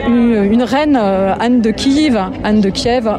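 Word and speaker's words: Київ: une reine, Anne de Kiev, on dit Kiev en ukrainien. S'il vous plaît, arrêtez de dire Kiev avec un F. Déjà en français, ça ne s'écrit pas avec un F. C'est la translittération russe.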